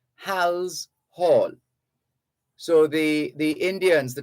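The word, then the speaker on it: Halse Hall: travel to hal's hall we have a tendency in jamaica to say hall's hall it's not halls hall it's hal's hall h a l s e hal's hall so the the indians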